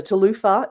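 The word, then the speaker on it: Talofa: So Talufa is how you say hello.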